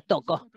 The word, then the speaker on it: Toko: Mi nombre se pronuncia Toko.